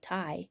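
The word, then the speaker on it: taille: up from the computer it's a french word pronounced like tai she announced it means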